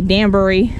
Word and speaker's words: Danbury: So a lot of what I heard and researched was Danbury was the pronunciation, even though it's spelled D-A-N-B-U-R-Y. So I'm tempted to say Danbury, but it's Danbury.